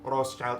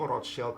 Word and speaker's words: Rothschild: Jadi di video ini gue bakal pronounce Rothschild itu dalam bahasa Inggris aja ya. Kalau pakai bahasa Jerman kan dia pronounce-nya itu Rothschild kan. Cuman biar kalian yang udah pernah dengar nama ini tuh kan lebih familiarnya dengan Rothschild, bukan Rothschild.